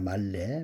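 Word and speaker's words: מלא: 말씀 말래입니다. 말래. 말레라고 읽습니다. 그림의 의미 맵.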